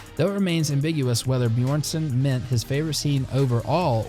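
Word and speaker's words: Björnsson: actor half worth or bjornsen i think it's how you say it best known for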